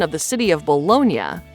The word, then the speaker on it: Bologna: of the city of bolognia sounds as if it has an i a at the end meaning it was subsequently